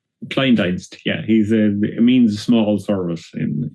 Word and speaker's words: Kleindienst: How is pronounced? Kleindienst, it means small service in German, Okay.